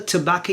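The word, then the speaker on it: tabacco: Tobacco in Italian is tobacco. Tobacco. So not tobacco, but ta with the a tobacco.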